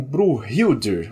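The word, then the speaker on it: Brynhildr: Cujo o nome viking é difícil de pronunciar, seria algo como Bruhilder, alguma coisa assim.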